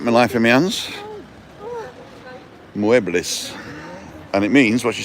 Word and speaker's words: muebles: Pronounce every letter. So muebles. Muebles.